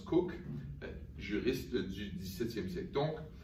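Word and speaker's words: Coke: à l'influence d'Edward Cook, qu'on écrit comme la boisson gazeuse, mais que les Britanniques, selon leur sens inné de la prononciation, prononcent Cook, juriste du XVIIe siècle.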